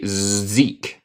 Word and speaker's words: Zeke: Zeke, ¿se pronuncia así? Sí, Zeke.